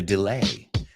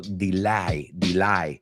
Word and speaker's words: delay: Cuando me enteré del retraso, the delay. Ojo, he oído a algunos alumnos pronunciarlo delay. No, it's delay.